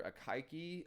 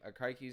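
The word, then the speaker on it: Akaike: um it stands for akiki i think is how you pronounce this name akaiki's information criterion and bic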